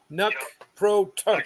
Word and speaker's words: nunc pro tunc: yes, Nuck, pro, tunk.